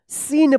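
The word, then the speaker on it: scene: सी silent रहेगा। क्या पढ़ेंगे इसको? सीन पढ़ेंगे।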